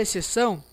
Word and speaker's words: exceção: eu pronuncio a palavra exceção eu pronuncio e eu pronuncio c são o x não é pronunciado pessoas o x não